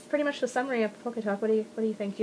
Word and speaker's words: PockeTalk: You keep saying PockeTalk? It's PockeTalk. There's no extra T. It's not PockeTalk. No. Oh, I've been saying it wrong.